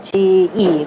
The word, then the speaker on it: 子: 처개, 그 다음에 군자의 자인데 자는 지로 발음하죠. 지이.